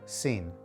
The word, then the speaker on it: sin: simply means without and it's pronounced like the english sin so far so good let's move on to verse 4.